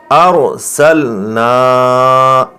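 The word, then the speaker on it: أرسلنا: ہے حمزہ کے اوپر، تو یہ را اب آپ سمجھ گئے ہوں گے کہ یہ را موٹی پڑھنی ہے آپ کو۔ ہجے کریں گے، حمزہ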